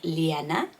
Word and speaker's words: Lena: But in Sweden, it's more like Lena, a bit like Leona.